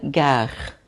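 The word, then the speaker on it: gare: Quando a estação é de trem, a gente fala gar, tá?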